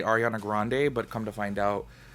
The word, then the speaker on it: Grande: the longest time i just would say ariana grande but come to find out she and some people in her family say grandy anyways y'all this video right here is kind